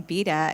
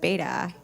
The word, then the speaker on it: Beda: and today I learned that Joe pronounces his last name betta instead of bata fun facts and also